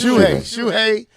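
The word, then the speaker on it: Shuhei: first name uh shuai shui there it is shui y CA has commented on when his uh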